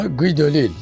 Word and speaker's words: Guy Delisle: gay döz ya da Fransızca telaffuzu la gıy dil Ben gayd olis olarak devam edeceğim Çünkü benim için onu ilk tanıdığım şekliyle gayd listir siz yanlış söylüyor gıd olil Aslında diyebilirsiniz bir Fransız kanalında kendisinden gıd olil diye de bahsediliyor kimdir gayd olis gayd